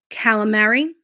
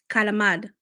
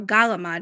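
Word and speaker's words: calamari: Um calamary. No. Calamad or galamad even like you know canoli.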